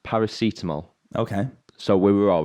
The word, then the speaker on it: paracetamol: i don't know who colin is it's pronounced paracetamol okay so we were all right last week